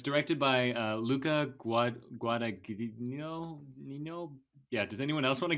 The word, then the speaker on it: Guadagnino: So it's directed by Luca Guadagnino. Does anyone else want to give that a try? Does anyone else know how to pronounce it? Jalapeno. No, it's Guadagnino. Guadagnino. You gotta say with the accent.